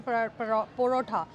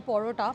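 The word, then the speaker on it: parotta: Malabar porotha, it's actually porota. I don't know the pronunciation, but South Indian people don't call it as paratha. It's more like porota.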